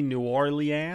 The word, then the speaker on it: New Orleans: Yeah, New Orleans. Okay. Well, I'm going to work through that. It's 1.5 syllables at best. You had 5, I think.